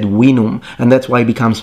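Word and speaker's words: vinum: like at the time the romans didn't say veenum they said winnum and that's why it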